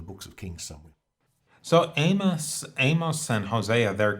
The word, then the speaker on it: Amos: ways now but um apparently it's pronounced Amos in Hebrew but I think we should only say Amos if we're trying to be pretentious okay let's go for